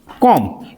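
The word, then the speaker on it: comb: इसको हम लोग पढ़ते हैं सी ओ एम बी कॉम। कॉम नहीं पढ़ते हैं। इसको पढ़ते हैं कॉम। यहां पे बी क्या होगा? साइलेंट होगा। इसको पढ़ेंगे कॉम।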